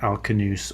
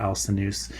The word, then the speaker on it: Alcinous: By the way, the K or the S sound on the C, it can go either way, but maybe it more properly should be a K sound. There is a Kentum and Sodom split in European languages that happens later on than this, and so the Romance languages take the C sound or the S sound for a C, and the Germanic languages keep the K sound for them.